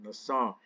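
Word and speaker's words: נסה: And so the word here in Hebrew is nasa, or that's how you can pronounce it, nasa.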